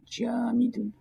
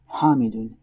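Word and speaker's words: جامد: The first type is called jamid, jamidun, not hamidun, jamidun. Okay, and there's masdar, masdarun,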